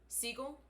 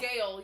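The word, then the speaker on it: Sgaeyl: I pronounce it as Seagull. No, it's Gail. Yeah, it is with a silent. Yeah, it's Gail.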